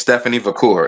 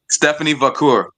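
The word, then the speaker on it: Stephanie Vaquer: Aden Julia and Stephan is I believe it's Stephanie vur it's Stephanie vur is how you is how you say her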